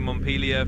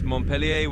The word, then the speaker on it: Montpellier: In the US, we do take Montpellier for the capital of Vermont, and it's basically the American English pronunciation of the same name. In France, it's Montpellier with more of a French twist on the pronunciation, and it's a city